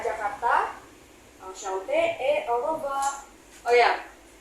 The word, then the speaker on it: enchanté: Enchanté ini penulisan untuk yang laki-laki. Kalau untuk yang perempuan tetap sama dibacanya ya, tapi kalau untuk penulisan tambahin e lagi, tapi bacanya tetap sama.